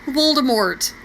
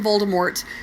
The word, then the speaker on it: Voldemort: doesn't like Harry Potter I'll tell you who Voldemort that's who and obvious all due respect Miz Rowling if you ever see this I'm still calling him Voldemort because you don't get to change the pronunciation